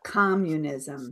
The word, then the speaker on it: communism: Yeah, communism, community, but communism. So the syllable stress is different for communism.